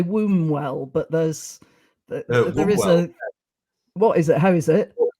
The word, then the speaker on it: Wombwell: wrong I would say wombwell but there's what is it how is it I would say it's almost like it's w so onewell one one well right okay and and